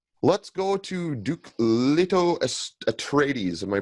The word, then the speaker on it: Atreides: Let's go to Duke Leto Atreides. Am I pronouncing that correctly?